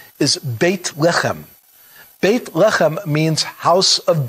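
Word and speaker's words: בית לחם: Bethlehem, which in Hebrew, the meaning of the name is the, how it's pronounced, is Beit Lechem.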